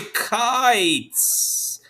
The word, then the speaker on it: kites: does that make sense however there's a silent e at the end and he says hey aye go ahead say your name so we say kites and you know it's